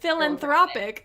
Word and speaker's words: philanthropic: philanthropist that's a word well anthropic philanthropic I put the emphasis on the wrong syllable and my family says